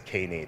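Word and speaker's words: Knative: yeah sure oh that the pronunciation is canid okay native yeah the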